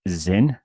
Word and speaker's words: XYN: it has a name xyn pronounced Zin and that's a brand